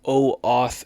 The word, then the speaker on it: OAuth: And then on the third day, the whole thing had shut down and gave me an OAuth error. That's spelled O and then AUTH, like authorization. OAUTH, authorization. So OAuth errors started happening with Instantly and Microsoft 365 Outlook, like within 2 days.